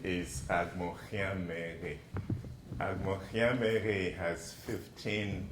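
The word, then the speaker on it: Agbonkhianmeghe: Camille asked me to pronounce my name for you, which I will do. My name is Agmochiamere.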